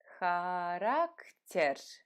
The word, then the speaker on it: Характер: Характер. Характер. Характер. You see, when I pronounce the word, my R's are not as rolling as they were when I just pronounced the letter. Характер. Much easier to pronounce.